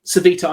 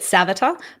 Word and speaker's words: Sevita: Um, Sevita, I'm hoping I'm pronouncing that correctly. Um, am I Did I get it wrong? Did I get it completely wrong? No. Okay, so I always pronounced it Savata, but I've just heard my Sav but but no, you are correct. I am wrong.